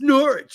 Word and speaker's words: Norwich: for Norwich next season nor sorry Norwich fight some English dude it's Norwich you don't pronounce the W dumbass excuse me we